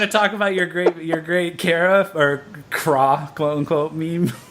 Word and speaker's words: Kra: The band whose name reads like Kra is pronounced Kara.